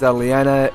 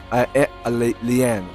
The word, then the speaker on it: Leanne: I was mistaken there because her name was not pronounced Liana here or Liane or well. You get the rest. I mean, her name was pronounced. Leanne, that is her name.